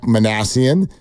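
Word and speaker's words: Minasian: just a name uh let's go ahead and get it right it's Zach manassian and he was officially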